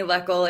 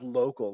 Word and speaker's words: Loechl: My name is Luckle. It rhymes with freckle. No one can ever say it. It's totally fine. I would have gone with local.